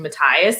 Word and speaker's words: Matthias: But because we don't get Wyland in the first book, the voice actor for him is the only one that pronounces the H in Matthias.